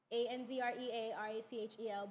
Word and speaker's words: Andrea Rachel: That's ANDREARACHEL, but it's pronounced Andrea Rachel. Because people always ask me, why do I say my tag or my handle with regular Andrea Rachel? But that's because it's easier for people to remember and spell. But when you see me, it's Andrea Rachel. That's how it's pronounced. Yeah, because my father is West Indian, so that's how they pronounce it.